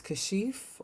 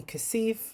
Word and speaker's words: Kashif: to be honest so my name is kashif or kashif those are the pronunciations of my name which i like um some people call me kasif that's not it some people call me car shift i do like kashif as well because that's what a lot of my muslim brothers and sisters call me because within their culture and religion that's how it is pronounced i've had some people